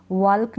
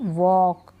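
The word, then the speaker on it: walk: यक पढ़ेंगे फॉल्क नहीं फॉक टक नहीं टॉक वाल्क नहीं वक चौक कुड कुड नहीं ठीक है कुड शुड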